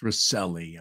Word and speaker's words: Recile: Rec is pronounced Reli. I've heard people pronounce your name a hundred different ways. Recile.